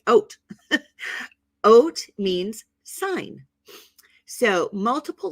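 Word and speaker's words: אות: letter is called an oat and it's pronounced like if you were going to have some oatmeal right oat oat means sign so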